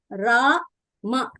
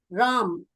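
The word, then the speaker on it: राम: Even if we consider Hindi, we used to write Ra, Ma. But how we will pronounce that word? Ram. We don't pronounce it as Rama. We pronounce that word as Ram.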